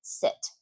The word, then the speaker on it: sit: Okay, now I have some sentences for you here, and in each sentence is a word with a short I, and the same word with a long E, which completely changes the word. For example, sit and seat.